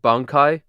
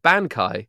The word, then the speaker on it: bankai: But the the chorus of it, I I repeat the word bankai, you know, hit hidden with the bankai, but I pronounce the word wrong. I pronounce it bankanaie, which is not how it's pronounced.